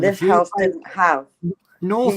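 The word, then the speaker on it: Northrepps: That's one of this the house didn't have Northreps is one of the few places in Norfolk that is actually pronounced the way it's spelt.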